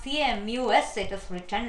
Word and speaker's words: Camus: Albert Camus, please note down this pronunciation. It's not C-A-M-U-S, it is written like, the spelling is C-A-M-U-S, but it is pronounced to be Camus, C-A-M-U-S.